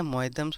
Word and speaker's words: मोयदम्स: वो बोला जाता है मोयदम्स। मोयदम्स, ठीक है, ठीक है, मोयदम्स बोला जाता है।